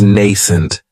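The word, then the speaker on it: nascent: another great adjective is nent and this word has two syllables and the stress is on that first syllable it has the long a sound n that second syllable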